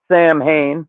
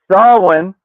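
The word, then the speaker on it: Samhain: They're trying to unleash Sam Hayne, which it's pronounced Sawin on day 70 of learning uh Gaelic on this side.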